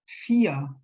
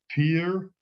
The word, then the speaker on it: vier: And then number 4 is vier. Vier, not fear, but vier with the German R at the end.